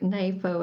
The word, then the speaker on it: NAFO: Gotta say it right, NAFO. It's a play on NATO.